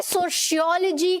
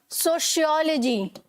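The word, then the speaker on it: sociology: Hi, aren't you इन माय सोशियोलॉजी class. अब इसमें हमने प्रोनाउंसिएशन डिस्कस करी है ना, तो मैं यहाँ पर प्रोनाउंसिएशन के बारे में भी बात करने वाली हूँ।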